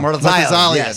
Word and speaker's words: Murtazaliev: Oh, How do you pronounce it? Matsakite. Oh, gosh. Murtaliza. Murtaliza. Yeah. Murtazaliev, Yes.